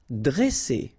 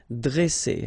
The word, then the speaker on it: dresser: Vowel, vowel, double S, so you pronounce it really strong like S, okay? Dresser. And then when you get a double consonant after you open the sound of the so it will be like E, dre, dresser.